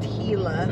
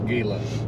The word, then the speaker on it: Gila: Forest we did figure out that it is pronounced Gila it's Gila whatever anyway we left there and we were